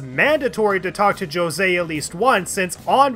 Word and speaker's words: Jose: My name is Jose. It's pronounced Jose, you little shit!